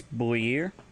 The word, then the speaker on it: buir: If you want to say father slash mother, it's Buir, Borir, BUIR.